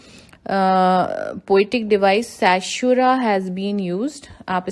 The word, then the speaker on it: caesura: तो इस स्टैंजा में there is a poetic device सैशुरा has been used. आप स्पेलिंग लिख सकते हैं CAESURA, सैशुरा.